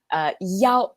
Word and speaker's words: 幺: When we're giving phone numbers in Chinese, the number 1, which is pronounced 幺 instead of 一 to avoid confusion.